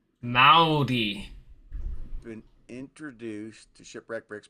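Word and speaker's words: Māori: Okay, we roll our R so it sounds like Maudi.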